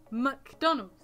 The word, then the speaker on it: McDonald's: McDonald's.